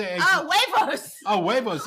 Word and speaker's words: huevos: Oh, huevos. Oh, huevos. It's spelled with an H.